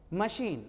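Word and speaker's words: machine: मशीन, मैसीन, ठीक ना उच्चारण, ठीक ना।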